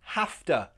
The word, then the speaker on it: have to: Have to sounds like hafta. Hafta.